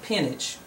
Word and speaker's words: peonage: About peonage. That's how it's pronounced.